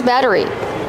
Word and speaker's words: battery: We see the double T making a fast D sound. Batter. Batter. Batteries. Like water bottle. Make sure it's a fast D. Batter. Batteries. Not a rolled R.